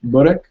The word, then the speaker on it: börek: How do you pronounce it in Turkish? Börek?